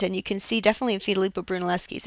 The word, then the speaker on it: Brunelleschi: to be talking about Brunelleschi and gilberti um yes his name is pronounced Brunelleschi this SCH the CH before an i in Italian makes a k sound so it's bruschetta just